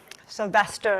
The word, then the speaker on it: Sylvestre: from Canada that our family had not been pronouncing our last name correctly, Sylvestre is how we say it.